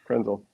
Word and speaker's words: Krenzel: kenzel so anything's possible kenzel could run themel was a runner rhymes with Denzel you know he was